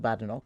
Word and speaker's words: Badenoch: you and as I always remind people there is no bad in Bok that's the phrase isn't it yes it's fine I'm finding that running fader has been very helpful in seeding the correct pronunciation of uh of my name but of course it's not uh uh it's not usual in Scotland the place is called badok but um my husband's